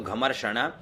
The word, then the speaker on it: घमर्षण: माधुच्छ छंदसो माधु आधा च तो माधु छंदसो घमर्षण घ म श के ऊपर र और ण तो घमर्षण ऋषि रनुष्टुप छंदो ऋषि